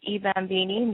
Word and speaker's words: I Bambini: I just launched my line at the end of May, and my clothing line is pronounced eBambini.